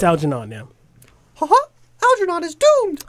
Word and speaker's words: Algernon: I don't know how to pronounce that. Algernon. It's Algernon.